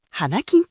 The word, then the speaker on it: はなきん: "Hanakin" là dạng viết tắt của "Hanakin no Kin'yōbi" (Thứ Sáu Vinh Quang), và phát âm là "Hanakin".